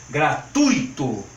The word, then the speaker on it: gratuito: que deve ser pronunciada gratuito estou exagerando para vocês perceberem onde vai a força do acento tônico fluido o porto Itu